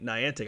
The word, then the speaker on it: Niantic: I do not know how to pronounce their name today, apparently, because now you do. I've definitely... Niantic.